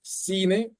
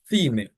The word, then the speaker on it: cine: So they'll say, this word is for Latin Americans, it's pronounced cine, but in Spain, they'll say cine, right? Latin America now, they pronounce the C before the E or the I like a S.